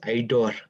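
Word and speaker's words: Aidor: would like to say my name is idor a-i-d-o-r-i-dor but no worries i like idea also there's a new name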